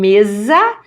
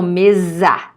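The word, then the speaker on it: mesa: vocab for you Tom Meza please remember what we mentioned the s between two vowels is always pronounced as okay no Meza khadiyah no livro cast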